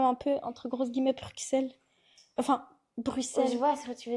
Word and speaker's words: Bruxelles: est-ce que ça ressemble à comme un peu, entre grosses guillemets, Bruxelles?